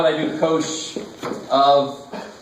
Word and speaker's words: cosh: This cosh, which is actually how you say it, cosh, This cosh function is e to the x plus e to the negative x over 2.